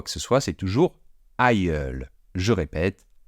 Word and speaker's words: aïeul: féminin ou quoi que ce soit, c'est toujours aïeul. Je répète, aïeul.